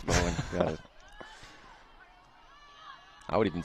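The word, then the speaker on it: Bohn: It's spelled B-O-H-N. I thought it was Bone, but it's Bowen.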